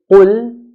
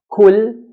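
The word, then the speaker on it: قُلْ: Qaf, when we pronounce it in a heavy manner, as in qul, qul means say. If we pronounce qaf in a light manner to make it sound like a kaf, kul, kul, this changes the meaning from say to eat.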